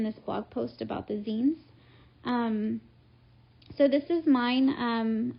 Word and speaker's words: zine: saying it wrong apparently it's not zion it's zine so this is my